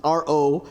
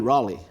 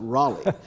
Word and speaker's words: Raleigh: To me, Raleigh, in my mind, is Rollie. That's Raleigh, So when I got here and I started asking people about Raleigh, and they would say, you mean Raleigh?